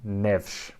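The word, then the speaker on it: Neves: mateen oh yeah um ruben nevis is reuben nevsh okay uh pepe or pep uh is is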